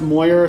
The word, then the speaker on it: Moyer: well um so uh my name is actually pronounced it's pronounced moyer so dr moyer um